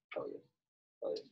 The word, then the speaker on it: Peleus: Peleus.